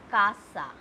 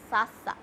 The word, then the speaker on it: casa: Now, example, if we are going with A, example is Casa. This is not Sasa. This is Casa because it is coming with A.